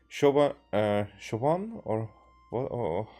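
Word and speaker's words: Siobhan: it should be pronounced, for me it's like Shioban is what comes to mind, and I know that it's not like that. So before I translate it to Shovan, I think of Shioban first.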